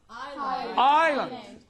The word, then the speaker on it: island: S is usually silent in the words A-I-S-L-E. Ale. Island.